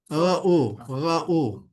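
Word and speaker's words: רְאוּ: No, silent. So Ra'u. you just pronounce the R, the range, or. Yeah, because it's Say. ra. Yeah, you would pronounce the sound of the letter when you've got a silent under there.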